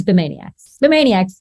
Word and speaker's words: Bemaniacs: So he also runs the Bemaniacs Discord, although we will continue to have an argument about how it's pronounced. It's Bemaniacs. It's Bemaniacs.